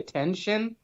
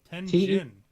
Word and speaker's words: Tenjin: Did you say Tenshin? No, Tenjin. Tenjin. Yeah, it's a J, not a shin. Tenjin.